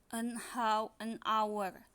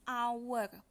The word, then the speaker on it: hour: Nah, di sini juga kalau kita mau lihat hurufnya, H ini kan sebenarnya huruf konsonan ya, huruf konsonan, huruf mati. Tapi kenapa kita taruh an di sini? Karena bacanya an hour.